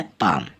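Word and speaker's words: palm: में उच्चारित होती है पी ए एल एम तो यह होता है पाम य एल साइलेंट होता है पाम मतलब हथेली पीओ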